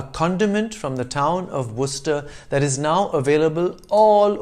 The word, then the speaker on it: Worcester: worcestershire sauce a condiment from the town of worcester that is now available all over the world